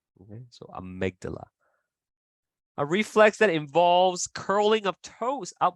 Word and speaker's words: amygdala: that amygdala sometimes uh if you have trouble pronouncing words with a Y in it just change the Y to I okay so amygdala a reflex that involves